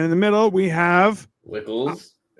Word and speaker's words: Wckls: with that as his last name so it wickles it is it's fine it works there's no